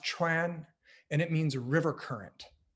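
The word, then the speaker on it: 川: In this case, it's pronounced chuan, and it means river current. So shun and chuan, they seem fairly separate.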